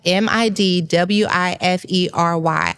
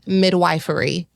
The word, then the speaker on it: midwifery: our conversation, it's spelled m i d w i f e r y. I thought to myself, midwifery. I did. It's midwifery.